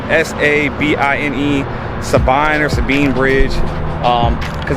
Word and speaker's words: Sabine: Where I'm at right now is called Sabine Bridge.